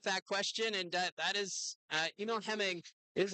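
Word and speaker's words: Emil Hemming: So, uh, Liam with that question and that is Emil Heming is how you pronounce it.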